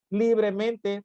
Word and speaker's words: libremente: Libremente, palabra sobresdrújula por estar acentuada en li.